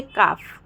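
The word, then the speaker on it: calf: के पहले अगर एल आता है तो एल साइलेंट हो जाता है जैसे काफ हाफ ठीक है काफ में देखिए काल्लकुम के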